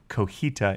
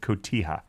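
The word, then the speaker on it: Cotija: ken instead of can i will apologize for saying kojita instead of kotiha no i'm not going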